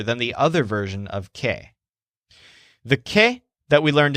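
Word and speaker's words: qué: But since the shepherd just now yelled, Kay, what Joel says is, "Que is that?" The word que, pronounced kind of like the name Kay, basically means what in a question.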